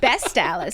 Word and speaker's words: West Allis: So since then, that's what all my friends who is it West Dallas or Stallace? Oh. Oh, it's best Stalis.